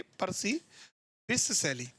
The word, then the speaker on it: Percy Bysshe Shelley: अब इसका जो प्रोनाउंसिएशन है वो आप ध्यान रखना है, इसको क्या कहेंगे? पर्सी बिस सैली.